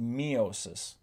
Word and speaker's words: meiosis: You may also hear meiosis pronounced meiosis. I guess it's just kind of personal preference.